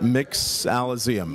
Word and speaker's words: Mixoloseum: monteleone to the mixolyzeum so how do we pronounce that mix alazium mix olivium so it's a mixology combined with museum because again we're building